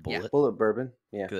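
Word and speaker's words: Bulleit: bourbon bourbon I don't is it is it pronounced Bullet bourbon yeah because it's spelled weird is it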